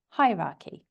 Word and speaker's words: hierarchy: So maybe that helps you remember that it starts with a stressed syllable, hierarchy.